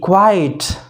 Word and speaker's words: quite: तो इस तरह QUIT, क्विट, QUITE, क्वाइट, QUIET, क्वाइट, समझ गए।